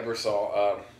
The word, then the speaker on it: Ebersol: So can you tell me, is there some sort of historical basis to Doc Ebersol? Am I pronouncing that right? Yeah, Ebersol. Good.